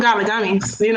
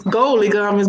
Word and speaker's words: Goalie Gummies: Speaking of golly gummies, if you want to, goalie gummies, I was saying it wrong the whole time. It's goalie gummies, but in my words, golly, okay?